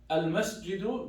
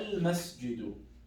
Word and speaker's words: المسجد: If it's not connected, if we're starting from, I say, al-masjidu jamilun. I just said al-masjid, right? I pronounced the a. But if I want to say, هذا المسجد جميل, I say, هذا المسجد. Do you see how I skipped the alif?